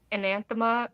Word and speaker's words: anathema: Well, Becky, are you gonna read Anathema or what's the one?